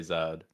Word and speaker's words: Z3D: I think Z3D is probably just pronounced Zed. Yeah, his name is literally Zed on CF as well.